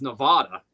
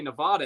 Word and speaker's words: Nevada: My elementary school teacher taught me the way to pronounce Nevada was Nevada. So when I went out west, I would say Nevada. And they would look at me like I was an alien.